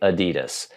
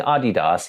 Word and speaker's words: Adidas: advertises their products in the US they say Adidas that's what I was taught to say that's what all Americans say if I ran around saying Adidas even though I know that's how it's supposed